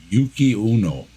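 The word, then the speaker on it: Yuki-onna: n a Yuki on but you say it like Uno Yuki Uno Yuki Uno yeah it's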